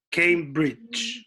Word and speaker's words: Cambridge: Cambridge, claro. Y que el acento lo tiene, el stress está allá adelante en Cambridge.